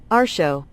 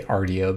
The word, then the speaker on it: Artio: found um this the the goddess is actually pronounced our show our show our show it's gonna be really hard to train myself to not say Rdio because I just called it that in my